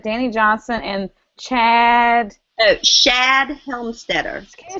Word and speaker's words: Shad Helmstetter: Oh, Shad Helmstetter. Can you spell that for me, please?